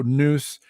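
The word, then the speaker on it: nous: yeah yeah it's and it's spelled n o by the way that took me a while to find so noose but it's also it's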